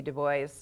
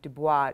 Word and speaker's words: Du Bois: Du Bois, who's not like the French pronunciation Du Bois, nor is he like the Wyoming pronunciation Du Bois. So you have to kind of meet somewhere in between.